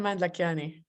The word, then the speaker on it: Lakhiani: Hopefully, I'll pronounce this right. Is it Lakhiani? Yes, Mand-Lakhiani.